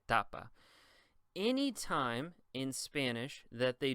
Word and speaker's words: tapa: Same thing here. The second to last syllable is ta, and it also is the first. So you would say tapa.